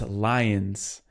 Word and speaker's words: Lyons: You know, for you it's very funny because when I read your last name, you know, it's pronounced lions and you talked about your connection and your husband's connection with Lyra, the this the constellation.